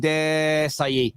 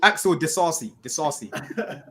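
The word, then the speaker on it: Disasi: Yeah, he just started off and he realized he didn't know how to say his name and he just went Desai. It's Axel Disassi.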